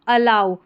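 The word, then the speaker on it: allow: आऊ तो यह है अ लाओ अलाऊ तो इसको ए डबल एल दे रखा है। इसको ऑल करके नहीं पढ़ना है। ठीक है? अलाऊ ये इसका उच्चारण है।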